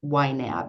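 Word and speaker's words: YNAB: this program called wet you need a budget yab is the way it's pronounced and we started uh working on that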